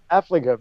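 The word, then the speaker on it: Affligem: And I don't know how to pronounce that word. What was it? Affligum? Oh, Affligum.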